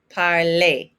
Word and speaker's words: parlé: Make sure you're pronouncing that accent aigu. It's an A sound. J'ai parlé.